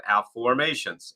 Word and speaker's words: afformations: hay house book called the book of afformations a-f-f-o-r m-a-t-i-n-s so we're not saying it wrong it's actually a new